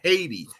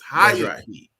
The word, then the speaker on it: Hayati: It is not Haiti. It's Hayati.